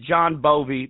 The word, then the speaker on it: Bovee: It's John Bovee, B-O-V-E. Right. And it's pronounced like John Bon Jovi, but right.